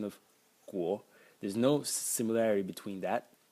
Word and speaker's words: 果: So the first character is pronounced guo, and it means to.